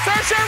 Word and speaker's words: Saoirse: But that's how you say it. Because people do get it wrong a lot. Saoirse, yeah, like Saoirse. Inertia. Inertia. It's the Saoirse.